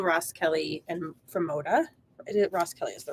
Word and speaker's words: Roskelley: yeah from Camille Ross Kelly and from Moda Ros Kelly is the right way to say her name